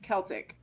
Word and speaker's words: Celtic: the word was originally pronounced that like a hard C like kite and Kilt Celtic okay okay go ahead